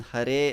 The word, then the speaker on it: Hare: sound the ra consonant but if you keep your tongue a bit more flat and touch the alveolar a little bit more flat yeah so then you get that so don't flex your tongue on hare and on rama so you should be